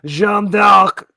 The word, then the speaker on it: Jeanne d'Arc: I mean, look, historically speaking, Jeanne d'Arc could have, I'm going to use the French pronunciation because I'm pretentious, could have been very fit and done some jazzercise back in the day.